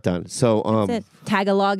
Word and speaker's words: Tagalog: Tagalog is how you say it, right? Tagalog.